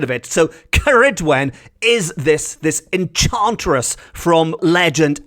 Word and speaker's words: Ceridwen: Mabinogion, of old Welsh tales will be familiar with the name Ceridwen, as will modern-day pagans.